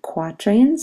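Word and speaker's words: quatrain: lines each those are quatran like the word quarter quatran they're in blue quatran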